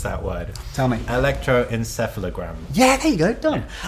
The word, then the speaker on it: Electroencephalogram: How do you even pronounce that word? Tell me. Electroencephalogram.